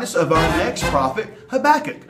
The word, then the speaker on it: Habakkuk: Okay, this will remind us of our next prophet, Habakkuk. Habakkuk, whose name rhymes with cook. Cook, Habakkuk.